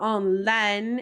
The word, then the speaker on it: en laine: So make sure when you're trying to say wool, you really pronounce that E, that N. So en laine, if you're wanting to say wool, and en lin, if you're wanting to say linen.